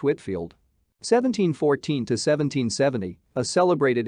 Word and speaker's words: Whitefield: 79 George Whitefield, pronounced Whitfield.